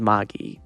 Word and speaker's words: Magi: pronounce it. So you're correct with Magi, yeah.